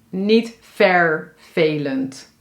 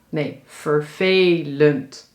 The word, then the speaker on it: vervelend: Ja, dus in deze 2 woorden, vervelend en 7, dan hoor je de eerste en derde in dit woord is e, vervelend. Vervelend. Ja? Niet vervelend. Nee, vervelend. Dus hier hoor je een e en ook in het woord 7.